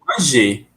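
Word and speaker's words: mangez: Querendo ou não, eu tive que falar agora, porque o Z não vai ser. Então, vous manger. Mas, na verdade, é porque o E e o Z em francês a gente pronuncia I, tá? Não tem pra onde, tem que pronunciar I, tá bem?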